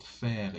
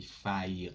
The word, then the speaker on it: faire: the rules of pronunciation, ai in French language is pronounced e. Okay, for example, in this word faire, you don't say faire or for or something like that. Faire, it is pronounced like that.